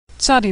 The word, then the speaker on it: Tzadi: Tzadi makes a TS sound like at the end of the word pants or nuts. Tzadi has a special final form, tzadi, and final tzadi.